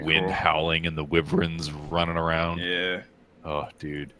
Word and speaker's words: wyvern: Apparently, it's wyvern. Wyvern? Yeah, like Really? an eye, like a long eye.